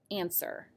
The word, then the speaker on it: answer: is an interesting one do you hear the w at all in that word answer i don't in the